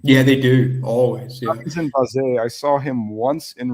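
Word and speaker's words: Noah Sarenren Bazee: It's Noah Sakum Baze. Yeah, Baze. Which Derek Ray did perfectly, along with Jeffrey Habaleo. It's not, it's got the French sound to that name.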